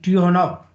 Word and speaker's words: Tychonoff: There is a confusion about the pronunciation of his name, so that some people think it should be actually Tikhonov. In some books, I think this is correct actually.